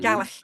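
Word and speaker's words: Gàidhlig: So Gaelic is like the English word. Gaelic is the Scottish version, but it's the same word. But Proper in Scotland, it's enunciation. pronounced Gaelic. Mhm. Gaelic, yeah.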